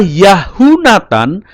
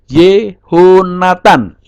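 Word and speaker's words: יהונתן: Nah, tidak dibaca Yahunatan tetapi berubah menjadi Yehonatan. Ya, sebagai contoh ini tulisan Ibraninya, ini kecil saya besarkan saja ya. Tulisan Ibraninya ini. Nah, Yehonatan, Yod sewa he holem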